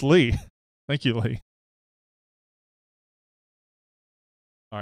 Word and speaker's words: Lee: Lee Jennings says Lee is pronounced Lee.